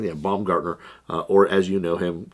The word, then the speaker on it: Baumgartner: Yeah, Baumgartner, or as you know him, Kevin from The Office.